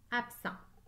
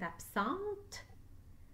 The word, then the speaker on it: absent: muet marc est absent lorsque c'est une femme qui est absente j'entends la lettre t marie est absente mais je dois aussi ajouter la lettre e qui est muette absents absente écrivez le